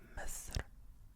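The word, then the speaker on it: مصر: We say Misr.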